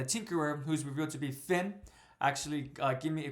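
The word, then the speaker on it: Phin: her name correct and her name is Finn but it's spelled p h i n so the misspelling my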